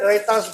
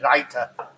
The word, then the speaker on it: raita: It's basically raita. R-A-I-T-A, raita. So how you pronounce it? Raita. What the fuck's he talking about me? Raita. So we say raita.